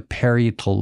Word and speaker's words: parietal: frontal lobe and the parietal lobe I would really sound smart if I knew how to pronounce period I think it's parietal really okay yes did I